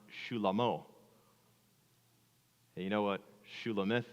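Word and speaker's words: Shlomo: And in the original language, Solomon's name would have been pronounced Shulamo.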